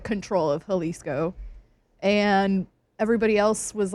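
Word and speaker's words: Jalisco: That is what how do you pronounce it? Halisco. Kind of. Halisco.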